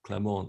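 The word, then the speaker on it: Clément: It's pronounced Clement in French.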